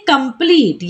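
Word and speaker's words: complete: कंप्लीट, ई last में तो क्या पढ़ेंगे कंप्लीट।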